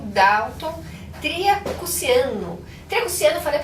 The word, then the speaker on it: Tria Cusciano: Triacuciano, falei a pronúncia correta?